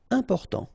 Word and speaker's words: important: Important. So final T not pronounced. And then remember, you've got this EM, and after that it's a consonant, so it is here nasal. Important. Important.